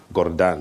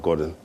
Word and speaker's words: Gordhan: Colleagues, Minister Gordhan, there's a correct pronunciation of his name, Gordhan, not Gordon. Gordhan, which means the shepherd.